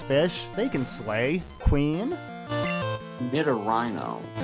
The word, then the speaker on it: Nidorino: Nidorino. Nidorino is how I've always heard it pronounced.